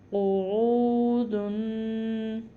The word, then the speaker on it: قعود: قعودن، آسان لفظ ہے، صرف تلفظ کا خیال بہت کرنا ہے کہ یہ قوف ہے، کاف نہیں ہے، عین ہے، عین نہیں ہے.